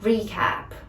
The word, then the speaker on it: recap: pronunciation but super easy recap recap the stresses of the first syllable it's three cap recap just to recap just